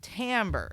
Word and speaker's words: timbre: something weird and it's specifically because we want to distinguish it from the other English word of Timber which is the lumber cutting down trees Timber Timbre is how we would say it so like a synonym